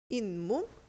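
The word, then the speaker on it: 잇몸: 그래서 이럴 때는 인몸 이렇게 적어 주고요.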